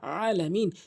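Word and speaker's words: العالمين: রাব্বি আলামিন বলে নামাজ হবে না বলতে হবে আলামিন চাপ দিয়ে হলকের মাঝখান থেকে আইন আইন এ হার মত করে দুটি হরফ হলকের মাঝখান থেকে উচ্চারণ হয়।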